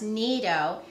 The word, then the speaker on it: Nido: You can even find, it looks like Nido milk, but it's actually pronounced Nido.